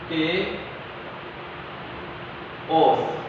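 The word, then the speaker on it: chaos: केओस, इसको pronounce कैसे करना देखें, के ओस। ठीक है, केओस। 5वीं और 6वीं सदी में इंसानियत तबाही के दहाने पर खड़ी थी।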